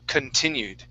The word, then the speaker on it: continued: All right, so our stress is here on T, T-I. Okay, so the C-O-N is K, right? So continued.